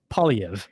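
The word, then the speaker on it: Poilievre: the that is so it's ply EV yeah so just like think like paully and Evie EV okay yeah PV thatv okay that's the English way to pronounce it there's probably a French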